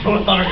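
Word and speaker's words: ToTheArk: Like Tothart? Tothart? Yeah. That is the new pronunciation. It's like, yes, Tothart, go out and slay the dragon.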